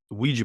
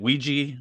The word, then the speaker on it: Ouija: In the UK, it is Ouija is the correct term for it. So it's Ouija board. So the United States, it's pronounced Ouija by definition. Yeah, so I guess they're both correct.